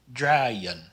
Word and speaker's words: draaien: It's more like the Y. So this word is pronounced draaien, draaien.